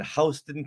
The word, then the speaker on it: Houston Street: Yeah, over in New York City, there's a Houston street, but everyone pronounces it Houston. What? Yeah. That's so weird. The weird. craziest thing ever. It's like, no, it's Houston.